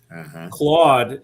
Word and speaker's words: Claude: Claude is exactly how it's pronounced.